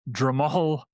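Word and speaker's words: Drumoghill: The name of the team is Dramal FC. Very very very small team. I'll spell it.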